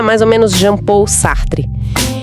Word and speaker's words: Sartre: A pronúncia é mais ou menos Jean Paul Sartre.